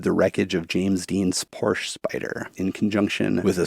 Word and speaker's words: Porsche: In German, we say Porsche. In English-speaking countries, you simply do not have that sound. You don't have that sound. The E is silent, and you say Porsche.